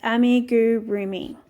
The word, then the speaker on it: amigurumi: I did a little research, and it is a Japanese word pronounced amigurumi. That's amigurumi.